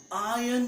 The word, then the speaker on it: iron: No, I need to iron my clothes. Here R is silent, means shh, silent. There is no R in here.